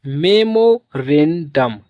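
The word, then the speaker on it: memorandum: तो इसे पढ़ेंगे मेमो रेंडम।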